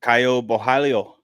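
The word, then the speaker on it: Caio Borralho: Kaio Bhalio. Kaio Bahalo.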